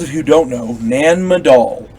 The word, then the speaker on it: Nan Madol: remarkable for those of you who don't know nan madol n-a-n-m-a-d-o-l nan madol is an archaeological site adjacent to